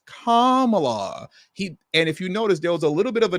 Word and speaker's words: Kamala: said her name wrong it's not Kamala it's Kamala he and if you